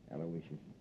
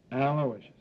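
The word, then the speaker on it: Aloysius: I guess you deserve a break yeah you spell that mle name right it's a l o y s i u s aloicious sure how good I miss it aloicious uh on the way down I picked up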